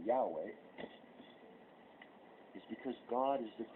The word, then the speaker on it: Yahweh: The other reason that God does not have a name other than Yahweh was, the Jewish word without vowels, okay, and the closest you could pronounce that would be Yahweh, is because God is the creator.